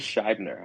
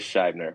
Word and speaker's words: Schibner: correct you here but it is it is Shyer I know but to pronounce it yes correct it is Shyer which I know that was one of sh